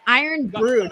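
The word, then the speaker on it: Irn-Bru: Don says it's pronounced Iron Brew.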